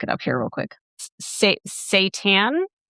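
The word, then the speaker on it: seitan: ginger garlic, and kamboo, it is called sat satan. The pronunciation says s a y- tan.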